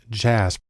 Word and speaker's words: JASP: program called JJ ASB it's actually pronounced jazz which is sort of